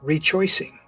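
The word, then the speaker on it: rechoicing: a notion that I call Reach choicing which by intent of course rhymes with rejoicing this is the idea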